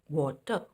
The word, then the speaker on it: water: Now here in water, again the sound is O, not A. It is not va, but wo, water.